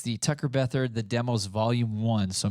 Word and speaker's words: Tucker Beathard: weird that was tricky at first but uh Tucker Beth is how you pronounce it and um yeah feel free to